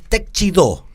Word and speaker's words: Teixidó: Me dicen que es Teixidó. ¿Teixidó? Si lo pronuncia en catalán es Teixidó.